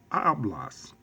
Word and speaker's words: hablas: for Essen in they will also follow rule number one so here it is hablas or two hablas ah blas it ends with the letter S and it - follows rule number one the stress is on the next to the last syllable in this case so